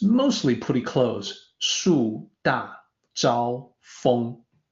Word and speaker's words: 树大招风: 树大招风. So the feng at the very end, it's more like F-U-N-G or F-O-N-G, somewhere in between.